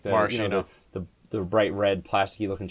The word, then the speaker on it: maraschino: In the Italian language, CH is a K sound, so they're actually called Maraschino.